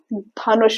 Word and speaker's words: ध: यह भी एक एस्पिरेटेड लेटर है। यानी जब आप इसको बोलेंगे तो आपको एक एयर फील होगी। ध हवा का झोंका आया ना? चलिए सबसे पहले इसके उच्चारण को समझते हैं। हाउ टू से दिस लेटर कैसे बोलना है। ध टंग दांत के पास जाएगी और फोर्स के साथ हम बोलेंगे ध।